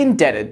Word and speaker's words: indebted: I never doubted you as you see the silent letter remains when you modify the base word by adding suffixes doubted doubtful with that in mind this one could be a bit trickier how do you say this yeah that's right I am deeply indebted to him for his help